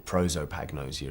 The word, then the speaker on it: prosopagnosia: she contracted a condition known as prototype agnosia or prosopagnosia as the Americans pronounce it yeah and it's a